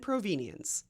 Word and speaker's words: provenience: Let's talk about the difference between provenance and provenience. And no, I'm not mispronouncing provenance. They are two different words that mean similar things in the art history archaeology world.